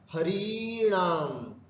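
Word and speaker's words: हरीणाम्: और एक सीधा षष्ठी बहुवचन में आकर के देखें, यहां पर भी दीर्घकार है, हरीणाम इति।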